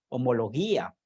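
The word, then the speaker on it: ὁμολογία: vienen del griego y la palabra confesión viene del griego que significa o se pronuncia homología y que significa homología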